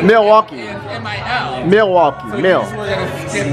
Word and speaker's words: Milwaukee: Do you say Milwaukee? Like there is no L? I'm from New York. So okay, but there's an L. Milwaukee. Milwaukee. But there's an L. Milwaukee.